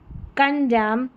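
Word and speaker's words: condemn: Autumn, कॉलम, हिम, यहाँ पर है कंडेम, सोलम, सोलम, यहाँ पर एन जो है वो साइलेंट है, एन का उच्चारण न नहीं हो रहा है, एम का उच्चारण म हो रहा है।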